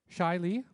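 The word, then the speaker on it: Zscheile: We have Eric Shiley. Shiley looks nothing like it's spelt. If you I don't see the Z, but anyway.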